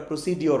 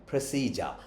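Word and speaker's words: procedure: এন্ড প্রসিজার rules and এটার উচ্চারণটা প্রসিডিউর না উচ্চারণটা হচ্ছে প্রেসিডার রুলস এন্ড প্রেসিডার এরপরে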